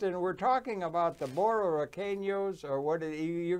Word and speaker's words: Borinqueneers: The way that you pronounce the name of the 65th Infantry Regiment is the Borinqueneers. Say it again. Borinqueneers.